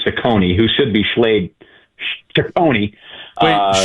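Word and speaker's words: Cecconi: the big leagues, you know, uh, Slade, Slade Sakone, I always want to say Chaone."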